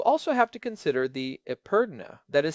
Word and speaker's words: epergne: You also have to consider the epergne, that is spelled E-P-E-R-G-N-E, but pronounced I-pernen.